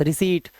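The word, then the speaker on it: receipt: रिसीप्ट रिसीप्ट नहीं आधा पा नहीं लगाना है। रिसीप्ट सी बोलो और ट लगा दो बस रिसीट।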